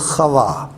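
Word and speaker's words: חוה: جو تلفظ بنتا ہے وہ ہے اس کا تلفظ خوا.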